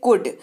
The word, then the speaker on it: could: जरूर होती है लेकिन एल जो है वो स्पेलिंग में साइलेंट रहता है इसीलिए उसका उच्चारण जो है वो कोल्ड नहीं कोल्ड किया जाता है क्या किया जाता है कूद इसका अर्थ होता है